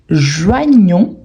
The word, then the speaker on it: joignons: Et en sachant que normalement, les dernières consonnes, on ne les prononce pas. Donc, j'ai joint, tu joins, il joint. Nous joignons, joignons.